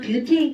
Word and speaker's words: 뷰테인: 근데 우리 정확한 명칭을 알아야 돼. 우리는 뷰테인이라고 읽어주죠. 기억나세요? 이거 C가 3개니까 얘네들 이름은 프로페인이라고 하는 가스죠. 그래서 프로페인과 뷰테인 가스를 LPG라고 하는 거야.